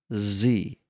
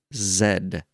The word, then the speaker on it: Z: you know this, but this is pronounced Z. Just Z. I don't know where this Ed stuff come came from, but it ain't zed. Is that who who says that besides UK?